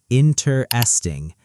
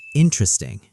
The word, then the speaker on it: interesting: Slow version, four syllables, interesting. Fast version, almost three, interesting.